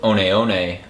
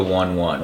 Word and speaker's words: One One: think in my previous video I had said on on is it was usually pronounced with the accent uh in the second part but the brand has decided to shift back to one one which is easier uh cuz that's the way